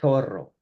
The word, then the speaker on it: zorro: And if you're in Spain, you would say zorro, right? With the TH sound.